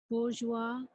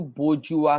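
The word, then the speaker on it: bourgeois: प्यारा है, जो आपको बोर्जुआ, इसको बोजुआ कहते हैं। थोड़ा सा एकदम स्पेनिश सा प्रोनाउंसिएशन लग रहा है ना, फ्रेंच या स्पेनिश जैसा, तो बोजुआ।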